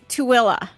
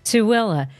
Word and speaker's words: Tooele: we're doing our best so it's tuilla correct tuilla but it doesn't look